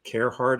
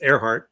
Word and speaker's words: Arehart: Although I always thought that by doing it as like Carehart, it's CARE, it makes you say care. Just so you know, it is pronounced Arehart.